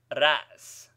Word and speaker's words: ras: When occurring as the vowel sound in words of one syllable, hamzeh is pronounced with somewhat of a bleating sound. Ras, pronounced ras.